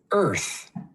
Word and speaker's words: Earth: And this last one is Earth. Earth. Earth. Earth. Good job. I love hearing the TH. The tongue is between our teeth.